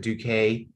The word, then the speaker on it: Duque: uh yeah it looks like we've gotten Duque is that how you say that the last name howdy gentlemen yes um I pronounce it duques it's uh it's also pronounced in Spanish which